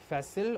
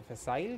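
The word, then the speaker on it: facile: आज का fifth word है फैसिल। और अगर ब्रिटिश में आप उसको प्रोनाउंस करना चाहें तो होता है फैसाइल। दोनों ही करेक्ट हैं। ठीक है? फैसिल या फैसाइल।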